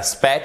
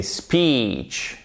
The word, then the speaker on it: speech: C'est un ilon et c'est pour ça qu'il faut utiliser la phonétique. C'est pas speech, c'est pas speech, c'est speech.